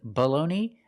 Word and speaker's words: bologna: Today we're talking about these two words, and they're pronounced exactly the same. Baloney. The first word is Bologna, and the second word is Baloney. The first vowel is the short sound, like cup and up, below.